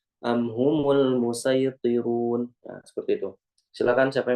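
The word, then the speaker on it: المصيطرون: Jadi dibacanya menggunakan shad dulu, nanti cara yang kedua baru menggunakan sin. Am indahum khazainu rabbika am humul musaytirun. Am humul musaytirun.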